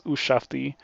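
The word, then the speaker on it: Ushabti: I think that I've been pronouncing that wrong for a while. Ushafti. I only just realized that it's Ushafti.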